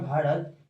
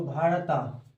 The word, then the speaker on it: भारत: story को समझते हैं सो भारता भारता ये इसको नहीं पढ़ेंगे इसको पढ़ेंगे भारत यानी कि यहां जो है य साइलेंट है तो यह भारत नाम